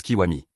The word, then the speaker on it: Kiwami: Son nom s'écrit Gakudo, mais il se présente et explique qu'il se prononce Kiwami.